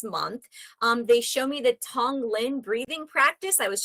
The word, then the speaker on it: Tonglen: They show me the Tonglen breathing breathing practice.